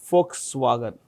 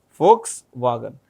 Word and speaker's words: Volkswagen: It's um owned by a comp company called Folkswagen. Folks wagon. It's pronounced with an F. V is pronounced with an F.